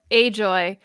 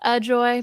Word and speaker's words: Ajoy: i am at ajoy on tick tock but it's pronounced ajoy because that is my middle name it's actually a joy my parents thought i